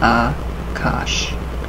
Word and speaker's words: Akasha: is also known by the Sanskrit term Akasha correct pronunciation is a cosh or astral light remember